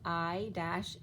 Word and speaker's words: ICENI: It was ICENI, which was pronounced, it was written out as I-seen-I, right?